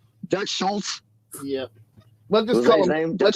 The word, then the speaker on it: Dutch Schultz: but I don't know I don't think it's quite pronounced the way you're pronouncing it but it just will go because they kind of know what you're talking about that's Dutch Schultz yeah let's just call